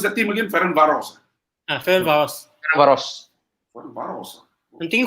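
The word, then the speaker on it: Ferencváros: How do you pronounce the team again? Ferencvaros.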